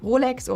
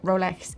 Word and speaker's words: Rolex: It is safe to say that both the English as well as the German pronunciation for Rolex or Rolex works just fine or folks.